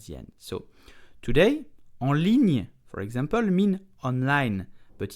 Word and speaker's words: ligne: Ligne, it means line, okay? So, ligne, slowly, ligne, very slow, ligne. At normal speed, ligne. The li, okay, li, then the gn, ligne.